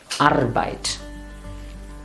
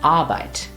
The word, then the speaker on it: Arbeit: make it slightly long don't pronounce the r don't say arbeit or no just simply arbite even in the verb